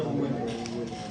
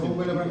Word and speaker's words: von Willebrand: Las hemofilias normalmente son intrínsecas y la enfermedad de von Willebrand normalmente es ¿Cómo se escribe esa enfermedad? von Willebrand. B y enfermedad de Von Willebrand. Von como si fuera holandés.